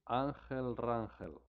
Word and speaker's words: Rangel: This is how you pronounce his name. Angel Rangel. But no, I said this. Angel Wrangle.